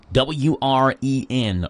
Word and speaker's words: Wren: W-R-E-N.